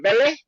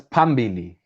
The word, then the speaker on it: Pambili: yes yes yes and from ben from belly i've probably said that wrong fee that was on or flam on undercover music no that's pambili my pronunciation is terrible say it i know